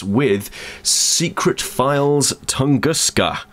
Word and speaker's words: Tunguska: it's with secret files tunguska I think that's how you pronounce it tunguska tunguska tusu um it's a point